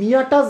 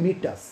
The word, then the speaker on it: meatus: স্পেলিংটা একটু জেনে নাও, স্পেলিংটা হচ্ছে MEATUS, কিন্তু আমরা কিন্তু মিয়াটাস বলবো না, আমরা কি বলবো? ইউরিনারি মিটাস, ঠিক আছে? প্রোনাউন্সিয়েশনটা ঠিকঠাক করতে হবে।